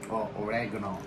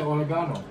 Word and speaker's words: oregano: Oregano. But that's how the Americans say it, oregano. We say oregano. You know, for the longest time, I didn't know they were saying oregano.